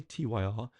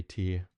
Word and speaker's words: Tyr: this um so like here tyr is actually pronounced t t r i always say tyr um po should say teer anyway uh see sat Black Sabbath back in